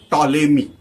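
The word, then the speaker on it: Ptolemy: So there was a scientist or uh space observer sky observer uh named as TMI but spelling starts with P. I don't know why but these silent letters are there always in English.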